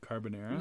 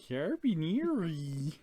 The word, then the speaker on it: carbonara: garlic mac and cheese carbonara yeah that is the correct answer yes carbonara carbonara carbonara how do you say that carbonara is that what I said caribbeanery oh my goodness peppered